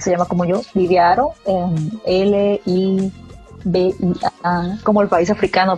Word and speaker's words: Haro: Aro es con H al principio en el apellido.